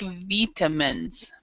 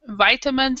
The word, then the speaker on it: vitamins: the word take um there's two pronunciations for this word we either take vitamins or we take vitamins so vitam vitamins is American English vitamins is British English so there's two vitamins